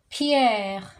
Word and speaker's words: Pierre: Peter in French is Pierre. Pier Pier Gloria Gloria.